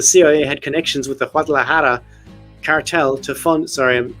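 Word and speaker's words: Guadalajara: had connections with the wadahara cartel to fund sorry when I go into Spanish mode I have to pronounce it properly wadahara to cartel to fund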